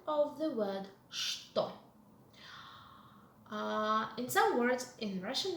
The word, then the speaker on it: что: Mind the pronunciation of the word что. In some words in Russian language that are beginning with letter ch, which are followed with the letter t, the letter ch is pronounced as sh.